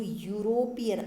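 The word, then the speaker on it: European: इन the same manner, वैसे ही यूरोपियन, जो यूरोपियन, आप इसका प्रोनाउंसिएशन देखो क्या आ रहा है? ये YOU।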